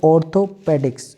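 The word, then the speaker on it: orthopedics: तो ऑर्थोपेडिक्स या ऑर्थोपीडिक्स, ऑर्थोपीडिक्स, ऑर्थोपीडिक्स, ऑर्थोपीडिक, ऑर्थोपीडिक, ऑर्थोपीडिक, ऑर्थोपीडिक, और ऑर्थोपेडिक भी बोल सकते हैं, ऑर्थोपेडिक क्योंकि सिंपली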